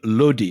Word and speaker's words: Lodi: Anyway, Ibrahim Lodi, as you correctly pronounce him, is the Sultan of Delhi.